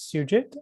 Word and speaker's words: Sujit: it pretty close um my first name is sujit my last name is